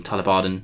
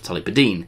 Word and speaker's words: Tullibardine: hopefully you've noticed that i've been putting some effort into pronouncing that properly now so i've been saying talabadin instead of talibadeen which is what i want to say but yeah talaban thanks